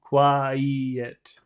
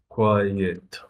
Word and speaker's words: quiet: do you pronounce it quiet uh no be careful you have to put e in the middle quiet quiet yeah you have to separate those two sounds otherwise it sounds like number one number one Qui